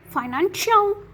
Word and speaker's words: financial: So when the C sound has two or more vowels, we pronounce it as sh, okay? Like ocean, financial, special, and precious.